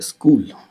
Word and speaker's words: स्कूल: तरह से पढ़ते हैं, पर इसका सही उच्चारण आधा स और कूल है, जो शायद मेरी ज़बान में अभी तक तो नहीं चढ़ा है।